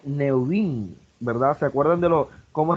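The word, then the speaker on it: נביאים: Se pronuncia Neuvin, ¿verdad?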